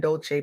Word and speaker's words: Dolce: Welcome to soft girl era hosted by Dolce. Pronounced dolce like sweet softness whispered in French.